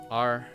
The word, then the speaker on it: Ryan: Raian. That's how you say it.